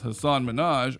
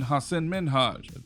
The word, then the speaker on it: Hasan Minhaj: She pronounced it as Hasan Minhaj rather than Hasan Minhaj, prompting him to correct her.